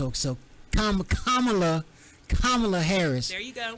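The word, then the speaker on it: Kamala: uh we got to say her name right kamla kamla okay you know I'm country so every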